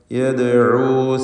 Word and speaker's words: يدعو: فسوف يدعو ദാലിൻ്റെ സുക്കൂൻ ഖൽഖല സുഗ്റ നൽകി ശബ്ദം ഹറക്കത്ത് പോലെ ചലിപ്പിക്കുക. യദ്ഉ സുബൂറാ. റാ തഫ്ഖീം ചെയ്ത് ഉച്ചരിക്കുക, അതിൻ്റെ അലിഫിലും തടിപ്പിക്കൽ വേണം.